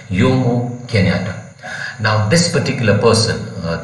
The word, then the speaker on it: Jomo: name a kenyan name though the spelling is jomo it is pronounced as yomo kenyatta now this particular